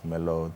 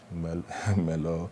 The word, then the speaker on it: Merlot: No, it's not Merlot, the T is silent, Merlot, Right.